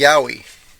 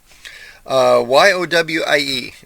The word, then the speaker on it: yowie: ape um here's one of my favorite the yowie y-o-w-i-e I don't know if I've seen it right